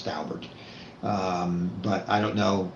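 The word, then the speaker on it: Daubert: I know how Dalbert's pronounced because the lawyer who represented the Dowberts in the Supreme Court said it was Dalbert. I've heard people say Dalbear.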